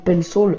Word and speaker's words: Pencil: Alors pour ceux qui ne savent pas ce que c'est que l'Apple Pencil, c'est que Pencil pour prononcer à l'anglaise, c'est tout simplement un stylo qui sert à dessiner sur l'iPad, bien sûr virtuellement.